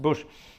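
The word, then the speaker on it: Buś: other day M Bush it's bu s with a little sort of squiggle on top but pronounced bush marrick bush it was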